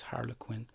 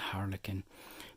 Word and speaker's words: harlequin: So this really has kind of a harlequin, there are two accepted pronunciations, harlequin and harlequin.